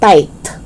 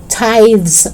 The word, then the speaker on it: tithe: voiced th it's not tight no it's not tithe no it's tithe so in church we say tithes and offering it's not tights and offering no it's tithes and offerings okay southern